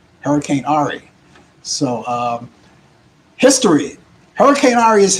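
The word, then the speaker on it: Henri: i called last week i call it hurricane henry but it was called it's pronounced ahri hurricane ahri so um history hurricane aria's history now uh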